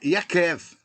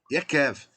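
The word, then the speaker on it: Ya'akov: Então o nome, a forma de ler, de pronunciar, é Yakev. Yakev.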